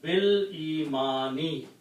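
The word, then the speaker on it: بالإيمان: So the word will become B al-imani, and when you recite, you do not pronounce this alif, it becomes bil-imani, in exchange of the belief.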